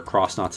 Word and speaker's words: Xnauts: CTYD also has a more interesting story with the new villains being the Xnauts or Cross Knots if you pronounce it that way, led by Sir Groas instead of Bowser.